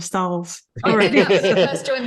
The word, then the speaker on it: Stahls: And I think I'm even saying Stalls wrong. I'm saying Stalls instead of Stahls.